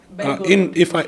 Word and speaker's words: Belgorod: Belgorod. In Russian I pronounce it, it's Belgorod.